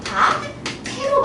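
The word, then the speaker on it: 밭에: 얘 같은 경우에도 이 이를 가졌다고 보지 않아요. 그래서 얘도 발음 어떻게 해요? 바테로 발음을 해요.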